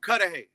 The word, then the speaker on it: Cudahy: i'm not even sure i don't want to mispronounce it it's called cudahy cudahy okay gotcha cudahy is in south los